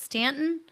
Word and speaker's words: Stanton: the town right, but Stanton Stanton, Kentucky. Uh, we will be at the Say it with you. Stan, Kentucky. Stanton, Kentucky. Now, I've been saying it wrong the whole time, you know.